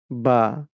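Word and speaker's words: باء: বা দেখেন উচ্চারণ হবে কোথা থেকে? এই যে দুই ঠোট থেকে। আমরা এখানে দেখতে পাচ্ছি। ইমেজ দেখে আমরা এইভাবে ঠোঁটের আকৃতি করে উচ্চারণ করব।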